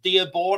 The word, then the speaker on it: Dearborn: I'm talking about a town called Dearbornne. I think I'm pronouncing that right.